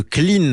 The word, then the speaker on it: Clhynn: vous bonjour président de Clean alors clean ça sonne tout net s ça s'écrit cl LH y 2N y et h pour hydrogène on va y revenir